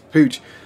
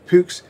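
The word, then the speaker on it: Puch: Now Pooch, German pronunciation Pux, was founded in 1889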